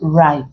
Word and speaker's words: write: So our answer becomes right, where the W is silent, leaving R to produce the sound.